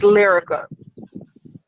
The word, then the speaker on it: Liryca: And how is that pronounced? Is that Liryca? Yes. Oh no. All right. Yes, it's Liryca.